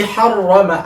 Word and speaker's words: harrama: Allati harrama, ada tasdid itu, harrama yuharrimu, ada tasdid. Nah, tadi mungkin karena bacanya terburu-buru, ya, harrama Allah itu tidak terbaca tasdidnya.